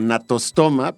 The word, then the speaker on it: Gnathostoma: Entonces, bueno, natostoma, para quien no lo haya escuchado antes, se escribe con G, natostoma, es el género, Natostoma sp.